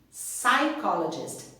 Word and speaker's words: psychologist: important thing is that we do not pronounce the letter P psychologist psychiatrist okay a shrink